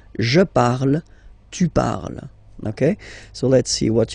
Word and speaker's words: parles: So you've got the 2 first forms, you pronounce them the same way. You write them differently, of course, because you've got here, and then you've got and s, okay, but then phonetically, they are the same.